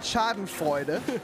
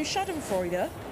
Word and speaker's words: Schadenfreude: In Germany, we have a word for that, Schadenfreude.